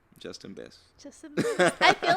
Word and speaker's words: Justen: Yeah, because I mean your name is already not spelled like Justin. It's like Justeen.